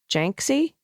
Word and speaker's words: Janksy: Oh, Jansky rhymes with Banksy? Janksy?